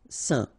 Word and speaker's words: saint: Alright, so final T not pronounced, and then when you combine this R-E-N here, you get the sound. Saint.